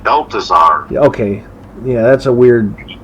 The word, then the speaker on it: Balthazar: I believe it's pronounced Balthazar.